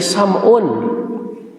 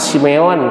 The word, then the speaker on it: Sam'un: Ada Nabi Sam'un. Pernah dengar gak Bapak Ibu Sam'un? Atau Simeon kalau orang Yahudi mah bilangnya. Atau Samson kita madang. Samson, Sam'un, Simeon adalah orang yang sama dengan pelafalan berbeda.